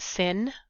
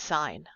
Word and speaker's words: sin: We don't pronounce it sin. That's a common mistake that a lot of my students do. We do still pronounce it as sign.